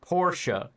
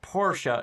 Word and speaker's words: Porsche: the one or two, but this one's two, even though it looks like one.